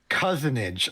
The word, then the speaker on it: cozenage: Cousinage. I have verified the pronunciation.